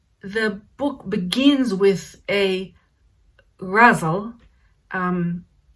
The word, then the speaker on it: Ghazal: you want further information i am pronouncing it russell um and i practiced it because that's how i i heard hashem beck say that um and pronounce it